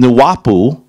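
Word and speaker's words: Nuwaupu: up with this form, Nuwapu, and I know I'm saying it wrong. Is that right? I'm saying it right? Yes, Nuwapu.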